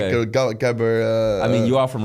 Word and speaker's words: gabber: It was like a hardstyle music, so it's like a gabber. I mean, you are from Rotterdam, so the home of is it Jabba? Gabber. That's how you pronounce it.